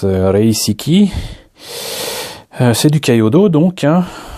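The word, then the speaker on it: 零式: Donc on saura que du coup le modèle 0, ça se prononce Reisiki.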